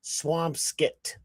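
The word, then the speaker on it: Swampscott: Uh, Swampskit, even though it has my name, it's Scott here in Massachusetts, it's pronounced Swampskit.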